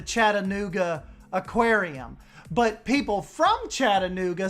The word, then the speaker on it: Chattanooga: here like in tennessee where you would say chattanooga like okay we're gonna go to the chattanooga aquarium but people from chattanooga say chattanooga they don't do the ta like